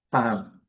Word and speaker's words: palm: O L não é pronunciável. O M fechando a boca. Pam, pam, pam.